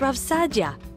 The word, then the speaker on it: Saadia: RAV Saadia for example it's pronounced RAV Sadia got it thanks published